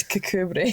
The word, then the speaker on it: Kirkcudbright: It's spelt Kirkcudbright, but it's Cucumbery.